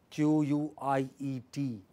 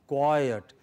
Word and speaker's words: quiet: When you say, when you have word, English words like quiet, Q-U-I-E-T, together, quiet. So you have A-E-A, okay, I-E-A, that is how you say, quiet.